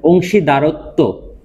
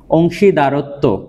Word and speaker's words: অংশীদারত্ব: আমরা অনেক সময় কি বলি, অংশীদারিত্ব বলি, শব্দটা কি হবে আসলে? অংশীদারত্ব।